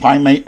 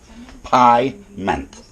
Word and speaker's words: pyment: first racking of the pie mate has completed by meant pie meant if i ever say it right how you doing pyment p y m e